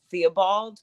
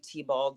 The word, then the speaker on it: Thibold: husband's name surname is they pronounce it theobald but a lot of the family does call it say t-bald so yeah okay correct